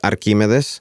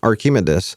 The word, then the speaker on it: Archimedes: In Spanish, it's Archimedes. That's how we pronounce it. Or in English accent, Archimedes. But that's where Archie derives from.